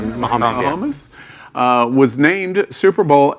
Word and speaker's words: Mahomes: And Patrick Mahomes, am I pronouncing it? Mahomes, yes.